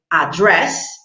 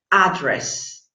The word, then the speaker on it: address: something particular because of the word address can be pronounced in two ways you can say address or address address or address and both of them are right are correct in pronunciation okay let's go to